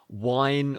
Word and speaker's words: wine: And the word is wine with a W.